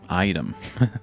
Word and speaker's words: AITEM: founder and CEO of Item Connect. Item. We have a startup here it's spelled that has a huge potential to disrupt the marketplace of retail.